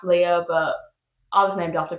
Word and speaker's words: Leah: I don't know why the spelling is different for my name to her name, and she is pronounced Princess Leia and I'm pronounced Leah, but I was named after Princess Leia, so I think that's pretty cool.